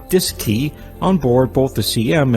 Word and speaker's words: DSKY: digital display and keypad known as the dsky pronounced disk key on board both the cm and lm mission